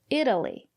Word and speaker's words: Italy: If it's not stressed, we pronounce it as D, Italy.